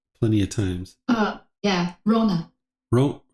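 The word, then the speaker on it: Rhona: know we've talked plenty of times uh yeah Rona Ro say again Rona Rona Rona Rona Rona Rona Rona how do you spell it r h o n a r h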